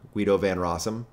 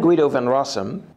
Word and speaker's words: Guido van Rossum: bdfl emeritus of python guido van rossum using my american english pronunciation i am guido van rossum decided to unretire and